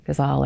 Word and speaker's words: Ghazal: So Diary Entry number 4, Ghazal or Huzzle, depending on however you want to pronounce it, it's a particular poetic form that includes repetition as part of the form in itself.